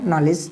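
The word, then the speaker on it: knowledge: ने पढ़ा होगा नॉलेज अब ये नॉलेज जो है ये क्याय जी जो है डी क्या है जी के पहले है तो अगर यह पहले होगा तो क्या होगा डी साइलेंट क्या होगा साइलेंट तो यहां डी साइलेंट होगा क्या आप कर नॉलेज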